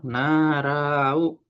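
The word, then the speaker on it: 習う: Ini bacanya adalah narau. Apa tuh? Narau Minasa.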